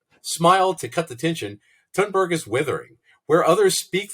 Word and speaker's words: Thunberg: Yeah, By the way, I would like to take a moment here to compliment your pronunciation of Thunberg.